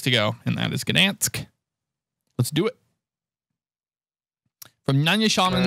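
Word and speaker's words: Gdańsk: So we're only one place to go, and that is Gdansk. Let's do it. From Nanyasham to Gdansk. And that'd be Nanyasham and Gdansk. We would pronounce that D there. Which is probably like Gansk.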